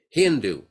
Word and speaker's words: Hindu: of that River shindu Hindu because they pronounce s as h as ha so this is